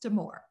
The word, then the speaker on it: Amur: name of the company it's pronounced to more right so uh i